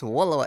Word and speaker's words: WLW: might be asking what's waaa it's just WLW but if you say it like it's spelled which is so cool